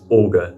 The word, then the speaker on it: Olga: attempts of pronunciation but officially it's Olga as in August and autumn and so the meaning